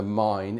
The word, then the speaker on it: Main: You'll come down the Ryan River, then you'll cross along the mine, M A I N, Mine River, Mine River. Um, people pronounce it different.